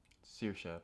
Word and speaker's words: Saoirse: I'm pretty sure it's Saoirse, but go on. Saoirse. Yeah, it's Irish. It's Gaelic, which is where my name comes from.